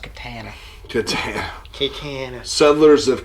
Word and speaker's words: katana: I wasn't sure it is it no it's pronounced Catana to tell keikain Settlers of Catan boy I'm